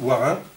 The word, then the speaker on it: Warin: Alors ça, c'est le W en picard, c'est pas répandu partout, et surtout prononcé W. Parce que dans les, en Lorrain ou dans les régions plus à l'est, on dit V.